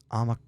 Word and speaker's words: Omicron: So, I've heard people say Omicron, Omicron, Omicron, Omicron, Omicron, Omicron, Omicron, Omicron.